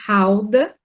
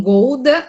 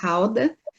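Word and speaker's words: Gouda: melhores queijos do mundo que é o queijo alda e as pessoas pronunciam gorda aí no brasil cliente já conhece a pronúncia correta alda e as vacas elas são utilizadas principalmente para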